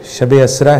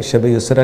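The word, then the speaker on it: شب اسریٰ: پڑھا بھی بہت اچھا تھوڑا سا تلفظ شب اسرا ہے وہ شب یسرا نہیں ہے اور ہیں زمین پر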